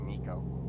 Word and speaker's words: neko: went neko in ease n-e-k-o it's actually pronounced nico yeah that's volvo is